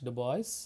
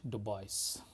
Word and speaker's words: DuBois: her name is Blanche DuBois. Okay, so when I say Blanche DuBois, what you can see that the surname DuBois is of French origin.